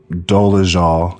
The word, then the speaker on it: Dolezal: So Rachel was going to testify, and because she was, Rachel Dolezal, because that's how you pronounce her name, her family, her mother and father and her brother needed to discredit her testimony.